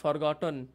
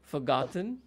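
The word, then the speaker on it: forgotten: ফরগেট, ফরগেট, ফরগট, ফরগটন, don't say this way, right? Yeah, ফুগ্যাট, ফুগট, yeah, ফুগট, ফুগটন, ফুগটন, ফুগ্যাটস, ফুগেট, ফুগ্যাটিং।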